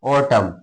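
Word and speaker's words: autumn: Condemn ऑटम ए यू टी यू एम एन ऑटम क्या पढ़ते हैं? Column C ओ एल यू एम एन ये क्या है? कॉलम है ना? जस्ट एम के बाद यदि एन आता है तो उसको हमेशा साइलेंट रहता है। उसको पढ़ते नहीं है।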